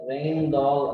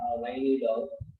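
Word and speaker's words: Rijndael: So further we have two implementation, that is the residential, that is the pronounced as rain doll or rainy doll.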